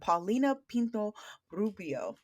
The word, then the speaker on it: Paulina Pino Rubio: actress, writer, and teacher, Paulina Pinto Rubio. Did I Ah, pronounce that? you pronounce it perfectly, actually. And most people have problems with R's, but you I had to get that.